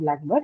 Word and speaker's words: blackbird: And now because the adjective has taken the first position in this compound blackbird, it is stressed on the first syllable black.